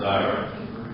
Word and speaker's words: diorite: Diorite. I know it's spelled like New York, but it's diorite.